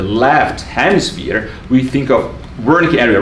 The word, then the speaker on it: Wernicke: And Wernicke should really be pronounced Wernicke, and Broca should be really pronounced Broca.